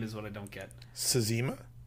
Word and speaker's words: Cxema: Sazima? Sazima, yeah. I mean, there's an X... So it must be the Z. CZEMA? CXEMA? Yeah, did I say Z? Yeah, it's CX. It's pronounced like a Z.